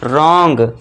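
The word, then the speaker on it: wrong: यदि आर से पहले डब्ल्यू है तो यहां पे फिर से देखिए आर से पहले डब्ल्यू है तो यहां पे इसे हम साइलेंट कर देंगे और इसे क्या पढ़ेंगे? रॉन्ग।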